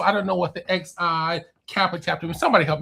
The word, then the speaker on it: Xi: Well, I can get the Lambda Mu Omega chapter, but please help me on what's the XI?